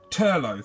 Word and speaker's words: Turlough: one once and you are I can never pronounce his name it Teagan the no o Turlough that's it Turlough could never have ever is